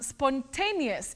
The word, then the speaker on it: spontaneous: you say spontaneous now that a in that word takes its name as a a and that is exactly the sound that you use don't say spontaneous spontaneous